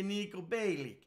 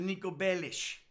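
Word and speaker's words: Niko Bellic: You say Nico Bellic. No, it's not Nico Bellic. It's actually Nico Bellish. So, you know, but they don't pronounce it right in the game.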